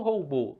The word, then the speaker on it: robô: Mas onde é que está a sílaba mais forte? Qual é a tonicidade? Aí você não parece nem pensar muito, né? Você já fala, professor, a tonicidade maior está em robô, na última sílaba.